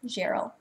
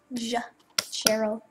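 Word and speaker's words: Gerel: So his name is spelled G-E-R-E-L, Gerald. The G is pronounced as a J. Gerald.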